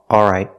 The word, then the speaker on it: all right: o but a if we eliminate the L it sounds like this a all right all right I'm all right I'm all right not I'm o right but I'm all right so you can pronounce the L all right I'm all right or you can eliminate the L and say I'm all right but use the vow all don't use the